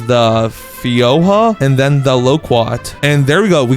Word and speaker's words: loquat: And I just searched it up and apparently this is pronounced fyoa and then loqua.